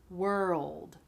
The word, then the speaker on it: world: Were, like the word were, and then old, like that man is old.